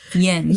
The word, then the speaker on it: Jens: I was going to, just so we're all clear, that's how I was going to pronounce Jens. Jens ever thought about It's not Ewan's. Yen's.